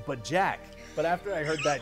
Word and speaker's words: BoJack: of that bojack horseman that was supposed to be pronounced but jack but after i heard